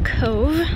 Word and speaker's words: Cobh: so this tone is pronounced as cove as in drove for example so it's something very